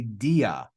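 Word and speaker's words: δι': mentioned is an alpha this word is actually DIA Dia but with the with the apostrophe we read it as D now who can tell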